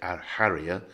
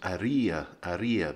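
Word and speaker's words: Haría: the first is that the h is silent in most spanish words as it is in french so you don't pronounce the h you don't say our harrier and the second is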